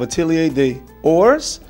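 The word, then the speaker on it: Atelier des Ors: Lune Feline from the house of Atelier des Sores is how you pronounce it.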